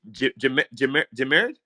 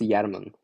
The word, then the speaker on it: Jarman: I can't pronounce your name. Jamered? That's it, right? It's pronounced Yarman.